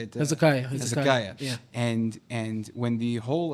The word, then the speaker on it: Hezekiah: Hezekiah.